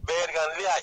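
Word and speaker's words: Bergenline: Berganlay, se escribe Berganlini y se pronuncia Berganlay.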